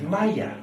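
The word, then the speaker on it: ميه: would say ma oh only in Egypt is it pronounced Maya and it means water so I asked H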